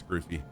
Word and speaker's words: Scroofy: Yes, but really, the way my name is spelt, it really should be Scroofy. And then with 2 F's, it would change the U from the U to the So, but anyways, it's Scroofy.